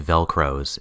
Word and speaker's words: Velcros: mad max style bus his name is actually velcros it's spelled v-e-l-c velcros thank you velcro's whitley